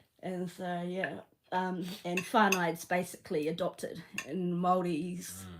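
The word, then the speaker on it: whānau: So, so I'm farno'd to a lot of Kiwis over here. Yeah, farno. Yeah. Farno. So, your wh is always the f pronunciation.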